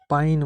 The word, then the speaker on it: पाइन: पानी को हम मैथिली में पाइन बोलते हैं, पानी, पा ई न, मैथिली में पाइन, पाइन। पा के बाद ई का उच्चारण आता है, पाइन, पाइन।